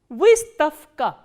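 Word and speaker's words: выставка: So, what happens when a voiced consonant comes before the voiceless consonant? The voiced consonant will be pronounced as its voiceless counterpart, which is f.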